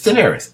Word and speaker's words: Daenerys: I always mispronounce her names. I call her Khaleesi just because it's easier for me to say than Daenerys. It's Daenerys. That's not hard to say.